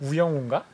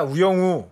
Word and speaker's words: 우영우: K-pop ETF 이상한 변호사 우영우. 우영우 이거 인기 장난 아니라 엄청 재밌다. 발음 조심하셔야 돼요. 우영우입니다. 우영우.